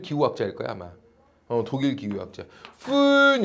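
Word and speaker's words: Föhn: 푼 이렇게 불러. 푼 이게 umlaut라 그래서 알겠죠? 이게 무이름 비슷해. 무이름 발음 나거든요. 푼 이런 거예요. 근데 이제 그냥 영어식으로 풀 때 그냥 펜 이런 식으로 부르죠.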